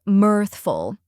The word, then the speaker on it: mirthful: the correct pronunciation is mirthful let's break it down first we have mirth which rhymes with Earth and has a th